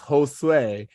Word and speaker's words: Josue: a Hispanic baseball players tell him that it's Josue and he goes oh I've been saying it wrong my entire life um I remember that